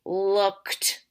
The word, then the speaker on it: looked: say it with me looked so it sounds like tea but it's spelled IDI